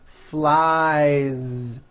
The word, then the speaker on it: flies: is the verb fly which ends in the vowel sound I so you've got I fly he flies keep that ending voiced flies the last sound you